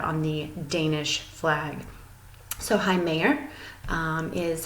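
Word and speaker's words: Hej med dig: And to say hello, if you look really carefully right here, it looks like hedge medger or hedge medger, but you actually pronounce it Heimayer.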